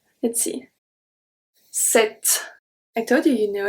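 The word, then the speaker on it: sept: already know it so when we have pt we don't pronounce the p we are only going to pronounce the t let's see set i told you you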